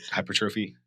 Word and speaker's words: hypertrophy: Hypertrophy.